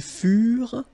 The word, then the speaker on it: furent: Ils furent. Elles furent. Keep in mind that ENT, you know, the ending for the plural form is never pronounced, though.